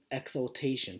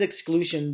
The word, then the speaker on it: exaltation: I love on the side it says Inhuman Slam Exaltation. Sorry, I keep on saying it wrong. If I said exclusion during my unboxing video, I'm sorry guys, I said it wrong.